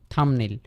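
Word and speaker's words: thumbnail: বলে না Thums up Thums down ঠিক আছে তারপরে হচ্ছে থাম্বনেইল থামনেইল থামনেইল থামনেইল হইতেছে আমাদের এইযে বিটা আছে বিটা হচ্ছে উচ্চারিত হবে না এ কারণে হবে থামনেল থামনেল মানে হচ্ছে ছোট তাহলে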